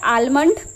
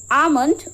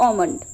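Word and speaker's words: almond: This is नॉट आलमंड। This is आमलंड और ओमंड।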